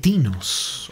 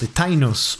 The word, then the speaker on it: Tinnos: the level is the Lost City of Tinos or Tainos as it is pronounce it is the penultimate